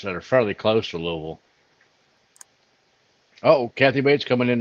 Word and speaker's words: Louisville: By the way, Ben, that's pronounced Louisville.